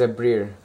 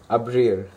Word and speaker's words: abrir: IR conjugation and the verb I'm using is a Breer which means to open abrir sorry I didn't pronounce it there right so the first is